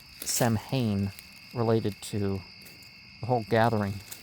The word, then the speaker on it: Samhain: It may have originally been pronounced Sam Hayne related to the whole gathering of the whole thing.